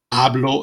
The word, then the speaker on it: hablo: Camino Hatano H Akshay the H is always completely silent Oh den Hospital alcohol hablo espanol @e right PE